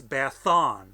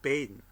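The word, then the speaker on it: Baddon: Now, for these Celtic Welsh speakers, 2 D's has a TH sound. So it's Bathon, not Badon.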